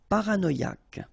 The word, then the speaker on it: paranoïaque: Paranoïaque. Okay, remember, Q-U-E, K, ac. Paranoïaque. Paranoïaque. Pacifique.